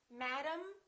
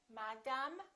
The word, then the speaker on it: madam: they're both reduced syllables repeat after me madam problem symptom album don't say madame problem album in some languages you